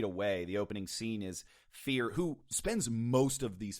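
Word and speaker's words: ph34r: who is known as fear and fear is spelled ph34 r if you grew up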